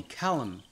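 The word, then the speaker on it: Calum: says by the way you can call me Callum it's the same way as saying Callum but spelled with one L as my mom named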